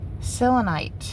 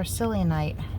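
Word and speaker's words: selenite: selonite or psyllonite depending on how you want to pronounce it.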